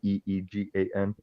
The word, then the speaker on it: Egan: I want to spell it like that, but the pronunciation will be the Eegan.